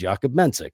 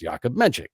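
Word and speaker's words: Jakub Menšík: he kept telling people his name was yakob menik because he didn't think they would be able to pronounce yakob menchik you know and it's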